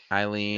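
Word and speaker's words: Eilleen: Her name was Elaine. Eileen, I think. Eileen. Is how it's pronounced.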